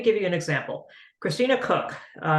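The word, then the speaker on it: Koch: you an example Christina cook k-o-c-h but pronounced cook she's on the Artemis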